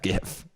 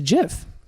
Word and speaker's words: GIF: my own mind and I wasn't even on the side of gif it's it's virtually impossible to to deny that it's it's a jiff oh yeah even after